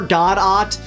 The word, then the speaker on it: Godot: It's pronounced waiting for God-ot.